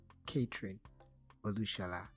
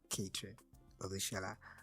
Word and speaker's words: Kathryn Olushola: It's no other person than the incredible Kathryn Olushola. Please give it up for Kathryn Olushola. How did that make you feel? You pronounce my name correctly.